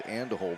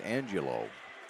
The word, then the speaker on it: Angelo: how to say it I want to say it's and hold but that's not right it's Angelo Angelo with it and here's